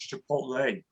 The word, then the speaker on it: chipotle: But my son corrects me, says, Dad, it's pronounced chipotle.